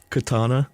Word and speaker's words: katana: Katana.